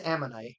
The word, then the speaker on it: ammonite: No, it's it's am it is ammonite, but it's like But it's that little